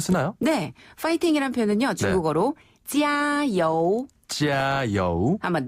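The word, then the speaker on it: 加油: 표현하나 그러면은네 짜여 아 짜요우 정말 그래요 아네 이렇게 하는데요 조금 더 힘차게 발음하면 됩니다 짜요 짜요 짜요요 예를 들어서 중국 팀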